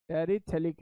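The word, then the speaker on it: phthalic: टेरी लिखना relic acid थलक acid very very important इसमें प जो है वो साइलेंट है बेटा कृपया करके स्पीड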